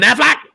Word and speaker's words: Affleck: It's Ben Affleck. Yes. Isn't that how you pronounce it?